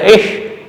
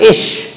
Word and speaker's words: ich: Ich, sometimes with the ich, sometimes ish, both correct. In some parts of the Germany you will see people speaking ich, in some other parts ish.